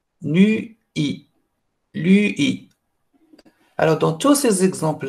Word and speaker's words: lui: des français ils ne vont pas dire joie et vont dire juin vient nuit nuit et ils disent lui lui est pas louis louis ng dick ça c'est le son le plus difficile à prononcer et on va voir